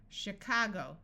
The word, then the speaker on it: Chicago: Orchestra in these words CH will sound like sh this usually happens in words that we got from French chef a chef is a fancy cook Chicago that's a city in